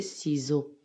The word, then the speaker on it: ciseaux: nixon les ciseaux mi6 au x à la fin s entre deux voyelles se prononcer les ciseaux les ciseaux les sapins